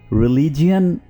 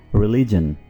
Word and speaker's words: religion: रिलीजन, इसको आमतौर पर रिलीजियन प्रोनाउंस किया जाता है, जो कि बिल्कुल गलत है। आप इसको क्या प्रोनाउंस करेंगे? रिलीजन, रिलीजन, रिलीजन।